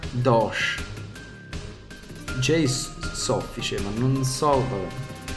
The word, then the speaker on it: Doge: attacco 14 pesa 10 si pronuncia Doh J soffice ma non so